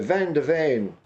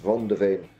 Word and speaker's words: Van de Ven: It's Vicario, Porro, Romero, Van de Ven, or Von de Ven. I think he's probably pronounced Von de Ven.